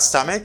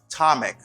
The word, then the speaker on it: stomach: or in your stomach it's not stomach okay it's atomic you say stomach you